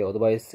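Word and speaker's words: advice: 그래 한번 요 벽이 어드바이스 는 씨가 쓰 발음 하구요 예 그리고 명사 로써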